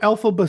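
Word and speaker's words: Elphaba: Just think Elfie. out, go Alphaba soup.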